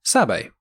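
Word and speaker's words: Sabé: She's actually a Naboo handmaiden called Sabe. Now it is spelled S-A-B-E, so it looks like Sabe, but Sabe is said at some point, I remember.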